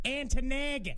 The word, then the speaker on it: Ontonagon: Yeah, I think it's pronounced Antonagon.